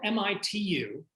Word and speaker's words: Mitu: So it's spelled M-I-T-U, and that is another Akkadian word. So maybe Mitu.